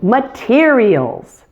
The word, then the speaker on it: materials: Number 2, materials. This one is 4 syllables and is full of hard sounds. The first syllable has a schwa sound, and primary stress is on the second syllable, mater.